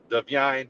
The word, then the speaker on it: Divine: Divine Diablo. Yes. Yes. Okay, Deian. Look, that's how you got to say his name. You can't just say that. You gota be like Deine. Deian Diablo.